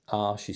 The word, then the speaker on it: Arches: Arches is spelled A-R-C-H-E-S.